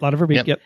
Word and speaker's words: Lotte Verbeek: So there's the weird thing is they have Lotte Verbeek come meet. Can I say her name right? Yep. Lotte Verbeek.